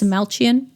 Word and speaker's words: Dastmalchian: Jack Delroy is David Desalchian. We just realized that that is how you pronounce his name. Desalian. Yes, Desaltchian. Uh, we were saying the ch like a c, but it's a ch.